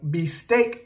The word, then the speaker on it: bistec: So B in Spanish is B, and then V in Spanish also is B. I've made this pronunciation mistake so many times. So we can have a word like bistec, and bistec is steak. So bistec, so this starts with the letter B or B.